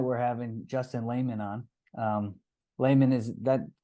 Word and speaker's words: Lahman: Lahman, is that correct pronunciation of your last name?